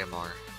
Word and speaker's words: Amar: Oh, and if you didn't notice, this is Amar's account, or Amar the. I don't know why I say Amar. It's pronounced Amar.